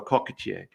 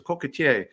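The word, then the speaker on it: coquetier: little egg cups and in French it's called a cockier and as more Americans would come into his shop and say well what's that he'd say it's a coier they they blurred that word just like a kadan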